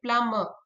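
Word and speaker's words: plumb: who fits and repair इसे generally not pronounce if एमएनबी letter ऑक्युर together in आवर्त for example so C don't call it कॉम बी हम silent कर देते हैं हम कहते हैं कब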